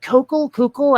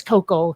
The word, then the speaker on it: Koukl: Like, there's this one dude, Greg Koukl. I don't exactly know how to pronounce. I think it's Koukl. It's like Koukl with no vowel in between the K and the L.